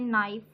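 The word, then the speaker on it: knife: For example यहाँ पे देख लें नाइफ, तो इसको हम लिखते वक्त लिखेंगे ऐसे नाइफ। वैसे तो के की प्रोनाउंसिएशन काफ है, ये डंड वाला काफ, लेकिन जब हम नाइफ लिखेंगे तो इसको हम ऐसे लिखेंगे, इसका जो के है वो हम इसको साइलेंट कर देंगे।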